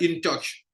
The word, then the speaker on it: InTouch: InTouch, bon, en anglais, on dirait InTouch.